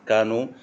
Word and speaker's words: Kano: The KANO analysis model or questionnaire, pronounced KANO, also known as the customer delight versus implementation